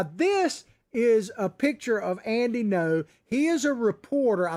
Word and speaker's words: Ngo: story journalist andy no it's spelled ngo but it's andy no says mask antifa mob